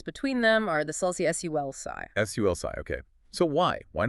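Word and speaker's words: sulci: Sulsi.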